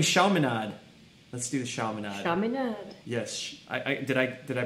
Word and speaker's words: Chaminade: Chaminade. Yes. Did I pronounce that right?